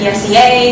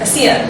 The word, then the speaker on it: ESEA: and whenever we spoke i realized everyone actually pronounced that acronym for eastern southeast asians differently some people call it esea some people call it ec um some people call it a seer and my personal preference is a seer so